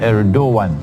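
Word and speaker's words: Erdoğan: But the pronunciation is Erdogan, the president of Turkey.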